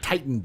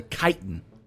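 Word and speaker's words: chitin: yeah get do Barnacle not not tiitan the kitan you know like the kitan which is like the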